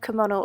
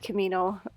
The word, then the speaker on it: Kimono: the first coat of kimono over I said Camino earlier but I said it wrong anyway it's very nice